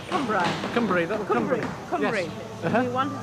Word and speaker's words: Cumbrae: Is that the right pronunciation? Cumbrae. Cumbrae. That's Cumbrae.